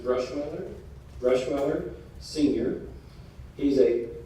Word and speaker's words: Bruschweiler: yes this is pronounced brush mother brush mother senior he's a quadri linguist and